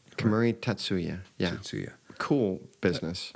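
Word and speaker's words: Kemuri Tatsu-ya: right now um I know we said the Camry Tetsuo yeah is that pronounced right Camry tatsuya yeah see yeah cool business so next time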